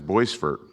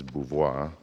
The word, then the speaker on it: Beauvoir: the call with her, I mispronounced her name as Boisfort. Now, we know that Robin's last name is Beauvoir, but ever since I was little, Dad called them Boisfort.